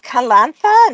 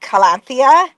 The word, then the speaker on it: Kalantha: So, I would have noted my name is Kalantha, not Kalanthia.